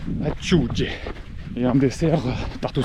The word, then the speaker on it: acciughe: Du poulpe, les célèbres anchois salés de Monterosso, prononcé acciugge, et un dessert tarte au citron, terrible.